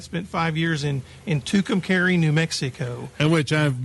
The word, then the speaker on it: Tucumcari: prior to that spent five years in in tucumcari new mexico and which i've mispronounced for years and years is too cumcari but that just sounds a little more exotic